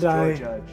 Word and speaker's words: Jorjuj: The proper pronunciation is Joy Judge. George.